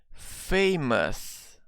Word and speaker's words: famous: a house maybe but when an adjective ends with these three layers here owe us the sound here is us us okay so try to try to repeat my pronunciation okay famous famous it's not famous okay it's not we don't have this old sound famous okay so for